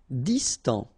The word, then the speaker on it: distant: Distant. Final T not pronounced.